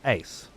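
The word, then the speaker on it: Aseprite: with as e so the prefix is still pronounced as Ace as in Sprite AC AC a e Ace nice I like it so it's aprite I can't pronounce the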